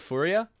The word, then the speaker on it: Furia: Furia, you don't like Furia. Whenever Brazilians come by my chat hardly, they tell me I'm pronouncing it right, and they uh they appreciate that.